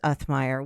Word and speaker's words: Uthmeier: And you pronounced my last name right, so you're one of three people in the state that can do that.